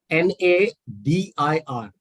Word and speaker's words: nadir: And the second word is spelled N-A-D-I-R.